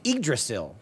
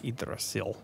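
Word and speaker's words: Yggdrasil: the wall it was idrasil the Tree of Life idril the Y is silent Jeremy it's spelled y g g d r a s i l Grail igdrasil thanks video games that's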